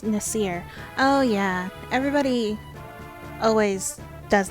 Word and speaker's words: Nasir: they were pakistani because they said nasser but everywhere else it's nasir so everyone else thinks says nasir and i say nasser i need to fix that before i play it